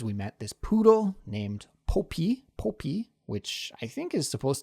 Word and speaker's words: Poppy: And so for this word, actually it's pronounced poppy, right? With that aw sound instead of an O sound.